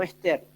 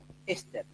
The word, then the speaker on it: éster: No ester, éster. Con acento en la primera E.